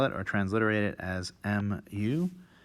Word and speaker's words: mu: or transliterate it as m u it's pronounced as uh you might imagine an m followed by u literally m u mu and it's written sort